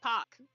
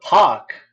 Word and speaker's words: Park: like how the how Park is actually a popular Korean last name apparently it's pronounced Pac I just guess that's